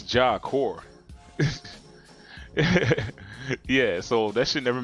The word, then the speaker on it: Job Corps: It's C-O-R-P-S. Not like how it sounds, right? That's stupid. It's like, because it's supposed to be Job Corpse. But it's Job Core.